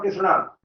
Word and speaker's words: कृष्ण: उच्चारण तो भी बदला और अर्थ भी बदला, तो हमें अर्थ जब बदल गया तो फिर कृष्णा नहीं, कृष्ण है, श्री कृष्ण, श्री राम, श्री राधाजू, राधा, राधे नहीं है, राधा है।